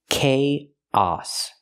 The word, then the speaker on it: chaos: remember the word chaos the pronunciation it doesn't match the spelling chaos use the ck sound like Cake Plus the long a k and then the a sound like hot and stop chaos we link the two